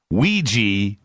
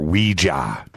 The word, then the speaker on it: Ouija: okay let's start here Ouiji or Ouija that's the question well it was originally made to be pronounced Ouija however because because we've been saying in our po pop culture for so long as Ouija it's acceptable now as part of our lexicon to say Ouija you'll probably hear me